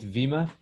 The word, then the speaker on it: Viima: It's, how do we pronounce it? Is it Viima?